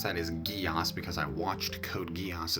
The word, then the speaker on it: Geass: Geass, and yes, I pronounce that as Geass because I watched Code Geass as a kid,